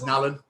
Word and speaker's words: Nallon: I just have a feeling that the Irish that's just how they pronounce Nolan in their Irish accent, and it came out as Nallon.